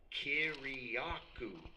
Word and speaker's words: Kiriakou: And I go, "Kiriakou," just like it's spelled.